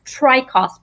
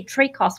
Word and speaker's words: Traicos: either either way so tracos or trachos that's right that's right yes well the actual correct pronunciation is tri-cost but americans say trade costs which i think sounds